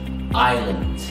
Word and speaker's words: island: island الجزيره، احنا بننطق الاس وده غلط، اوكي؟ بنخلط ما بينها وما بين دي دوله اسمها ايسلند اللي هي ايسلندا، انما دي island.